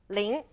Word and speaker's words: 灵: demonstrate 示范猛 fierce violent energetic 猛灵活 flexible 灵活 All right, for today's pinyin highlight, let's take a look at 灵活 . Now, 灵 is pretty straightforward. It's L-I-N-G. 灵 , and it's second tone, so our tone